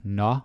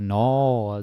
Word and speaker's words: nå: Then we have nå or no. This can be pronounced in so many ways.